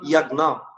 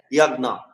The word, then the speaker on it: যজ্ঞ: বিজ্ঞান নিয়ম, যেমন ইয়াজ্ঞ, যজ্ঞকে কিভাবে উচ্চারণ করবেন, যজ্ঞকে ইয়াজ্ঞ।